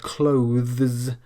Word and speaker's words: clothes: If you struggle with pronouncing the word clothes perfectly with the th, then just drop the th and go straight to the z sound, and it's unlikely the